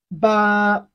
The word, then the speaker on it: 八: 8 in Chinese is another easy number. Ba. Repeat after me. Ba. It has the flat tone of Chinese language, the flat tone.